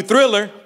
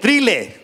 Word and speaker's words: Thriller: 2, but I knew Thriller. But I didn't say it right, because I just my first language was Spanish. Mi primer idioma era español. So I said trile. Trile. You know, like cornflake. Huh?